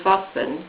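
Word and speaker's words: Wassen: recommend a particular manufacturer called Vasan which is spelled w a s s e n I identified this particular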